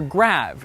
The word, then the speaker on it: grave: well the answer is great or rather grab as it would have been pronounced in the original French you see the graph